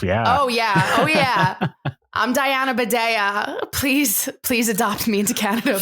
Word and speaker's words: Bidèa: We have singer-songwriter Diana Bidèa. Is that how you say it now? Yeah, Bidèa. Okay, great. Because every time I see it, I think bidet, and I know it's wrong.